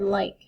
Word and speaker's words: like: and our site word like I like is special though there is a silent e at the end and it's magic because it makes this I say its name like l i k e